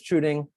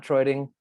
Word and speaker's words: Truding: My last name is Truding, not Troiding, for everybody out there.